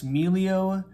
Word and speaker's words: Meglio: doing a mini kitchen knife review on this meleo 8-inch gyuto and cpm magna cut um emilio is spelled l i m-e-g-l-i-o there it is at